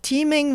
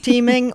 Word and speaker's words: Teeming: word, I guess, because you could spell it T-E-E. Oh, okay. Teeming, or in this case, T-E-A-M-I-N-G, meaning teaming up with microbes to really build the